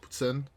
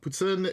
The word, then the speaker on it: poutine: is a dish called poutine. If you say it with an English accent, I'm sorry, you're wrong. Anybody who says that it's pronounced poutine is wrong and makes me upset.